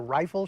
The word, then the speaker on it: riffle: I like to riffle shuffle or rifle shuffle, as I was taught how to say it when I was a boy.